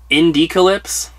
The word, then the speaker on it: Indiecalypse: Indiecalypse? It's like Indie Apocalypse, but they put it together.